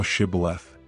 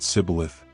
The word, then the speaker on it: Shibboleth: Then said they unto him, Say now Shibboleth. And he said Sibboleth, for he could not frame to pronounce it right.